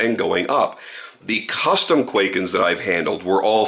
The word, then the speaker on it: Kwaiken: But the point is, we have Americanized the word. We call it Kwaiken, so that's how I'm pronouncing it, okay?